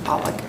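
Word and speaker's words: Poacek: I'm pronouncing that right it's p po a c e k that's poock poock it's my mom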